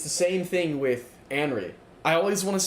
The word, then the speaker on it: Anri: Um, it's the same thing with Anri. I always want to say Henry. I always want to pronounce that wrong.